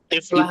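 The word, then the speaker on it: طفلة: Tiflah Tif- wala tufla. Tiflah. Tiflah. Tiflah. Tadi tuflah bacanya ya. Iya, tiflah.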